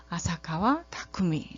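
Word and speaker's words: 浅川巧: 분이에요 써 1번으로 그 번씩 발음으로 이름을 읽으면 아사카와 타쿠미 라고 발음을 하면 되겠어요 그래서 마지막으로는 그 전체적으로는 이제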